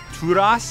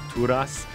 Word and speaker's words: Turas: Turas is how it's pronounced in Norwegian. It means something like of the mountain or Thor's mountain, Turas.